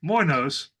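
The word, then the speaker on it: λοιμός: The word for famine is minos, and the word for pestilences is moinos. And in modern Greek, they're actually both pronounced the same.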